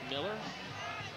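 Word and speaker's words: Mueller: There's Mike Miller, even though it's spelled M-U-E-L-L-E-R. It's pronounced Miller.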